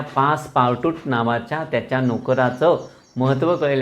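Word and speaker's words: Passepartout: आपण जर स्पेलिंग नीट बघितलं तर आपल्याला असं वाटेल ते पासपार्ट आऊट असेल. पासपार्ट आऊट असेल. ते पासपार्ट आऊट नाही तर ते पासपार्टूट असं ते नाव आहे, पासपार्टूट.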